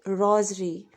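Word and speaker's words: rosary: याद रखिए इसकी प्रोनाउंसिएशन है रोज़री, कीमती को बोलेंगे प्रेशियस, प्रेशियस, ये प्रीशियस नहीं है, दैट इज़ प्रेशियस।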